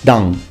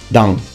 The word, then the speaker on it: Dan: that the pronunciation is the n needs to be completely and fully nasalized so you say dang dang full name hiiki dang